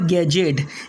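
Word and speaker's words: gadget: इसके बाद में एज और बजट और गैजेट, यानी इसे हमने बजट पढ़ना है, एज पढ़ना है, गैजेट पढ़ना है।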